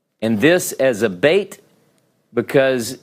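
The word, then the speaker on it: ב: go oh it's backwards some will call this a vet because it's pronounced as a V and this as a bait because it's got the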